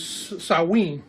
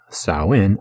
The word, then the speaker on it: Samhain: into halloween which is known historically as salween you know spelled out samhain but salween no dan as i will explain more throughout this video halloween and the modern celebration of saowin are different holidays american